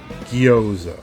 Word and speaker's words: Gjoza: It's spelled Gyoza, but I think that's supposed to be Gyoza, I think. Basically the Germanic J that's pronounced like a Y.